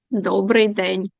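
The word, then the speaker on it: Dobrý den: I'm not sure how do you pronounce Dobry den to say good day? Dobry den.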